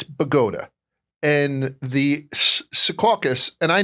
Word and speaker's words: Bogota: There is a town in New Jersey uh called uh when I moved to New Jersey, it was Bogotaa. It's spelled just like Bogota, but it's Bagota.